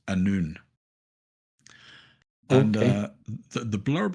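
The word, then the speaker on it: Annwn: It turns out it's pronounced Anun.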